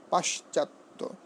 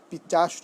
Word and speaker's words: পিশাচ: তালব্যস্য রয়েছে, পাশ্চাত্য, পাশ্চাত্য। আমরা অনেক সময় পশ্চিমবঙ্গ বলে ফেলি, এটি কি বলতে হবে? পশ্চিম। পিচাস নয় পিশাচ, পিশাচ, পিচাস পিশাচ, পিচাস পিশাচ।